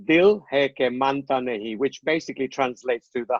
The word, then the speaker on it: Dil Hai Ke Manta Nahin: And then the Dil Hai Ka Manta Nahin. Now, what exactly does the 1991 Aamir Khan title mean? What does that mean? Okay, so it's pronounced Dil Hai Ke Manta Nahin, which basically translates to "the heart won't listen."